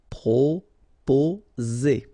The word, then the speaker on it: proposer: Proposer. Okay, so proposer. Remember, 2 vowels here and only 1 S, so you will get the sound Z. Okay, proposer.